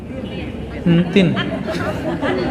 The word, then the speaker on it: Entin: Entin, bacanya gini ya. Entin.